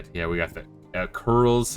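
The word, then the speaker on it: Coeurls: Sounds like there's new Yeah, we got the curls apparently is how it's pronounced by the the voice acting.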